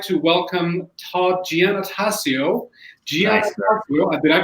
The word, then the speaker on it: Giannattasio: Giannattasio. Did I pronounce it correctly, Todd?